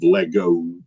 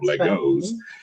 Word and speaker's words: Lego: I took off the S and faded it out and made it sound as much as of Lego as possible instead of Legos, without them knowing.